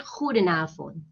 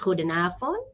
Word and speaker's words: goedenavond: It's goedemorgen, goedemiddag, and goedenavond. Some people pronounce the letter D, goedemorgen, goedemiddag, goedenavond. And some people pronounce it as goedemorgen, goedemiddag, goedenavond. That's also correct.